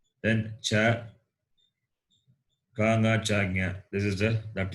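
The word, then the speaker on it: ञ: Therefore, the fifth letter will be palate plus nose. Palatal plus nasal. Therefore, it is pronounced as Nya. Nya.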